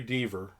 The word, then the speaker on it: Deaver: Oh, so yesterday, Jeffrey Deaver, rhymes with Beaver.